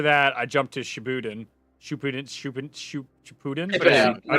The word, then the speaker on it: Shippuden: Shippuden.